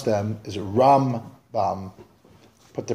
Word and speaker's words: Rambam: By the way, the way to pronounce them is Rambam. Put the pronunciation of Rambam on the first half of the word, and Ramban, put the pronunciation on the ban, so you can hear Rambam, Ramban.